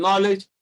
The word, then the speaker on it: knowledge: one is knowledge so k n wherever n comes when k comes before n k is silence so k is silent and knowledge is silent and night so take